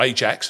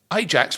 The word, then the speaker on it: Ajax: worth pointing out that in terms of pronunciation where we go AX and AX, all right? Or Ajax as as many of us did from my generation as you would do. And there's a logic to that.